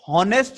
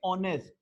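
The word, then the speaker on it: honest: अब देखिए ये हॉनेस्ट नहीं बोला जाएगा, इसमें भी एच साइलेंट है, इसको बोलेंगे ऑनेस्ट, तो ओ से है तो एन ऑनेस्ट मैन।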